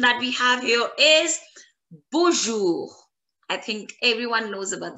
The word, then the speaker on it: bonjour: For example, in bonjour, It is ending with R. So I am pronouncing the letter R as well. It's bonjour, bonjour, bonjour.